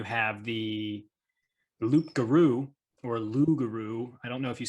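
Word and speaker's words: loup-garou: it's sort of like i don't think you officially pronounce it loop guru i think you say lu without the blue lugaru yeah that's sort of where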